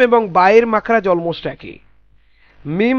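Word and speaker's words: م: মিম হচ্ছে দুই ঠোঁটের শুকনো অংশ মিম, আর বা হচ্ছে দুই ঠোঁটের ভেতরের অংশ।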